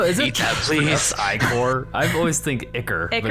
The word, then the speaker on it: ichor: Ichor? I've always think Ichor. But is it? I always is thought it it? was Ichor. It's Iker. Okay. I think. I've heard it pronounced.